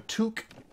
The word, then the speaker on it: toque: containers sandwiches a toke a toque was told it rhymes with puke all right anything in